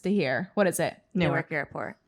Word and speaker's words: Newark: the airport closest to here what is it newark airport how do you say it newark newark